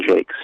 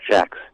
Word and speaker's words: Jacques: It's, have you heard of the Redwall series by Brian Jakes, or sometimes pronounced Jacques?